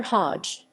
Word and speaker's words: Høj: the university of copenhagen professor hodge pronounced hoy completed a bachelor of